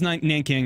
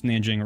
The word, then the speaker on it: Nanjing: They just, Man, you know, us English speakers like to not say things the way locals say them, so we just kind of say whatever we want. So it was Nanking, now it's Nanjing, or it's always been Nanjing, whatever.